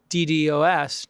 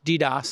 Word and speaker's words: DDoS: a network with these DDoS DDoS I guess is how people pronounce it just to do a